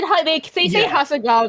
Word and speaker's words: Hasegawa: They say Hasegawa correctly, which is the real question mark there.